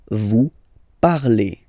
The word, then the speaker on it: parlez: Remember, a z, when you combine them together, you get the sound e. Vous parlez, all right?